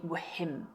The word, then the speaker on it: whim: So here we have a silent H. It's a whim and not a whim, okay?